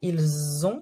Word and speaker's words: ils ont: Ils ont comme un Z, c'est la liaison.